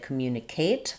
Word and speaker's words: communicate: Um what I hear is that sometimes we people will say communicate. They'll stress here because we stress and the second to last syllable in communication. I do think some British dialects will stress it that way, communicate, rather than communicate. But in American English, we stress on the second syllable, mu.